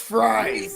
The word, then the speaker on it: Fries: fiveyear $88 million deal it's pronounced fries fries fries for chicken fries free fres and the